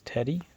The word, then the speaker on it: Tedi: By the way, if you didn't know, the way to pronounce the name on my channel, or me, is Teddy, T-E-D-I, and that is how you say, when you say teddy bear in Korean, you say teddy bois. and to spell Teddy in Korean is Tedi.